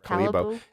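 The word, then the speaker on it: Kalibo: Gotta say it right, Calibo.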